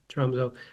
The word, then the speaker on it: Tromsø: He grew up in the far north part of Norway, a town called Tromsø. That's how we usually pronounce it in the English world. Tromsø, far north of the